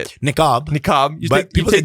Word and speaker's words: niqab: Niqab. People take say the the niqab actual off. headdress is called the hijab. Hijab. Okay. That's the one that goes around, right? Exactly. And then niqab is the one that's Yeah.